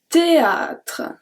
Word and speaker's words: théâtre: Numéro 8, le théâtre. Le théâtre. This word is usually quite intimidating for English speakers because they don't know with the H and everything. We don't pronounce the H.